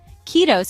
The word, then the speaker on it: kiitos: Kiitos is pronounced kiitos with the emphasis on the first syllable.